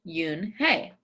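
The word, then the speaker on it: Unhei: Yes, it's pronounced Yoon Hey. And it means grace, Mr. Kim added. Yoon Hey, Joey said slowly, and this time perfectly.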